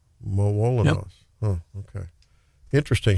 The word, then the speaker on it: Malinois: with a dog, and it was the Belgian, pronounce it again, John? A Malinois. Malinois.